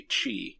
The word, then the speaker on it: Qi: let's try would say Chi yeah but the way that you smell the tea is a lie what Qi is how you spell Qi or Chi is how you pronounce Qi welcome by hate the